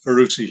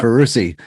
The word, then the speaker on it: Ferrusi: Is that how you say it, sir? Yeah, Ferrusi. Yeah. Ferrusi, number 122 of the Catskill 3,500 Club.